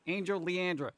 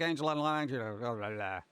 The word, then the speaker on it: Angel Leandra: When the words aren't separated, they all look like one word, and I try to say it like one word. So it was like Angela Leandra.